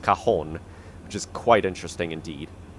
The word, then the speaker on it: Cajon: apparently this is pronounced cajon um oops don't want to do that apparently this is pronounced cajon i thought it was pronounced cajun but apparently it's pronounced cajon which is quite interesting